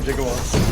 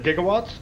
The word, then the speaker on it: gigawatts: crash that requires 1.21 jigowatts yeah interesting fact about that the script for Back to the Future said gigawatts and Christopher Lloyd didn't know how to say it so he said giggle